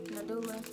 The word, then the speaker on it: NADULA: So now I'm gonna show you guys my bundle of my human hair from NADULA. I said that so ugly, y'all. I just want to make sure I said it right. NADULA.